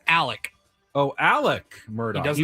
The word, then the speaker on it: Alec: But it's Alec. Oh, Alec Murdaugh. He doesn't even know it's an X. Yes, A L E X, but he goes by Alec Murdaugh. Alec Alec Murdaugh.